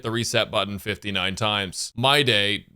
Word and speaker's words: Mydei: My day, pronounced mighty by the English dub of the game, but should definitely be pronounced my day, scales on HP, so